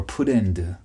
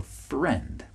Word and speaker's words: friend: sound or many times Koreans will say Oh Mitch I want to be your put end I want to be your Pretender well that's not the right pronunciation you should say I want to be your friend I want to be your friend okay very different sounds so